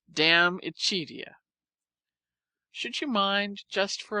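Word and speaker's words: De Amicitia: We've finished Livy and De Senectute, and are now engaged with Diamicitia, pronounced Damicitia.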